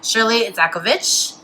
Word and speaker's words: Shirlee Idzakovich: I have New York City based costume designer Shirley izakovich thank you I did pronounce that right yes you did okay you